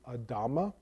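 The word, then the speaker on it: אדמה: The word ground is Adama, which is just Adam with an extra A at the end, really, a sound.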